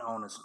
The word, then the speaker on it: honest: When the next word begins with the letter H, we use a if the H is pronounced and an if the H is silent.